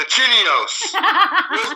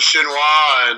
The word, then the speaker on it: chinois: on the list, but I'm only missing one thing, the chinios. What's a chinios? And so he ran, we laughed, and we told him it was a chinois, and, pointed one out here.